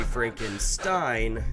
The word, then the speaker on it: Frankenstein: And or actually in most cases it is still supposed to be pronounced ein, but Americans are not exposed to an EI combo very often, so they go, I believe that's een. So whereas it's supposed to be Frankenstein, they might say Frankenstein,